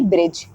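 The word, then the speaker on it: bridge: silent हो जाता है जब भी डीजी वर्ड अगर सेम प्लेस में सेम वर्ड में अगर आ रहा है तो दैट टाम पर जो हमारा डी है यह हमारा प्रोनंसिएशन नहीं होगा वहां पर प्रोनंसिएशन सिर्फ हमारा जी होगा जैसे कि ब्रिज बैज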